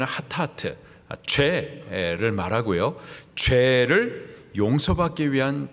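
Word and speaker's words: חטאת: 이 속죄제를 히브리식 발음으로 말하면 하타트, 죄를 말하고요, 죄를 용서받기 위한 제사, 그것이 속죄죄예요.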